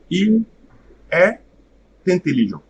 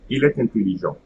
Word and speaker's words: il est intelligent: When the first word ends with the letter T and D, okay, it will create a liaison with T. Okay, so the second word will be preceded by the letter T. Okay, so let's see some examples. Il est intelligent. Il est, now that T will come here, intelligent.